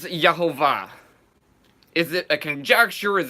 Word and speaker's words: Jehovah: hey Vaughn Hey and I believe that this should be pronounced properly as Jehovah is it a conjecture